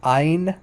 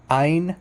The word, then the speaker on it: Ayin: In modern Hebrew, it's just pronounced like Ain. Ain. It's not. It's no guttural. It's not guttural at all.